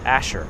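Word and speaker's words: Asser: Asher Levy, well, it's spelled A-S-S-E-R. But we always ever pronounced it Asher. I don't know if that's correct or not, but that's how we pronounced it in the neighborhood.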